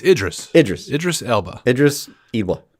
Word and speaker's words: Idris: listened to the show and yelled the correct pronunciation what is it again I'll learn eventually it's Idris Idris Idris Ela Idris Ela gotcha all right